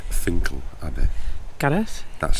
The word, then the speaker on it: Finchale: My first stop in Durham would be Fincher Abby. Actually spelled Finch Dale Abby. Actually, it's Finle Abby. Gareth, that's how you pronounce it.